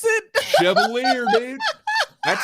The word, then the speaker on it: Chevalier: But in English or American, it is generally pronounced Chevalier. Chevalier, like a sommelier.